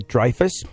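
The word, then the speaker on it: Dreifuss: known for her recurring role as dor May dfus did I pronounce the last name right yes you D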